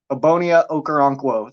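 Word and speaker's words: Ogbonnia Okoronkwo: at all that was oboe saying his name ebonia okarankwo that's how you pronounce that's like the official because it's him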